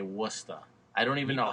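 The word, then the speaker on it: Worcester: Worchester look it up it's spelled Worchester and you guys say wora I don't even know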